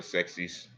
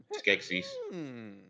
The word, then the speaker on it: Skeksis: We give Cloud the ability to speak, and he sound like a sexies. Skeksis. Okay, that's a very different pronunciation. I know. I forgot the what? K in the first one.